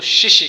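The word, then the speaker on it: 谢谢: लेकिन चाइनीज़ ज़ुबान इसको जल्दी जल्दी बोल देते हैं, किस चीज़ के लिए, थैंक यू के लिए, तो वो बोलते हैं शिशी।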